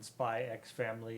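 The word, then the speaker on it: Spy × Family: forth in chat uh the X in spy X family is not pronounced it is not the whenever you see that big X not not an actual X but if you see that big Square looking X you never say them so Hunter Hunter is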